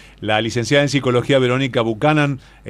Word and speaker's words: Buchanan: Yo te dije Buchanan. Está muy bien. Lo dijiste bien.